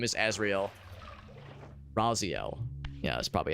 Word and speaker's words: Raziel: Raziel, yeah, that's probably how you pronounce it.